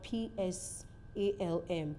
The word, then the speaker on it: Psalm: p is not pronounced you can look at the word p s a l m p s a l m the word is Psalm you will agree with me that the letter P in that word is not pronounced so your ability to